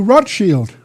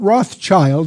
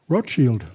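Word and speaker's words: Rothschild: changed his name to rot Shield not Rothchild that's mispronounced by most Americans rot Shield that's the German word for red shield rth shield at this point the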